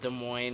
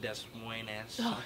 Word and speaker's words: Des Moines: It's pronounced Des Moines, not Des Moines.